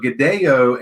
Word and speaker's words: Godello: That pronunciation in Spanish is Godello.